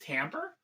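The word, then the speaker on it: timbre: Wait, that word's pronounced tambber.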